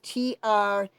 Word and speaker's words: Treacy: it's not Tracy, it's T-R-E-A-C-Y, it's not spelled like the name Tracy, it's Treacy, T-R-E-A-C-Y.